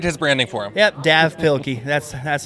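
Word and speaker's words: Dav Pilkey: And uh it's pronounced Dave Pilky, but it doesn't have the E in the end for Dave. It's just it's printed Dave Pilky.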